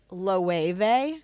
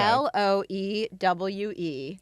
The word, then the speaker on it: Loewe: I think the brand is pronounced Loewe. Okay. Loewe.